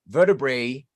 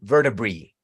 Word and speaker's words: vertebrae: And then you're going to hear vertebrae and vertebrae.